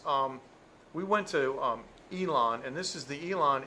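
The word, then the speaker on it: Yilan: but this is um we went to um elon and this is the elon area where we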